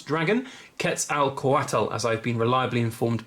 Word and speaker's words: Quetzalcoatl: Very, very cool, albeit quite hard to pronounce dragon. Quetzalcoatl, as I've been reliably informed by Macias and